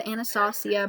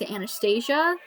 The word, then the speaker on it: Anastasia: things I actually just got this it's the anastacio Beverly throws a lot of people pronounce Anastasia but I did find out that's actually pronounced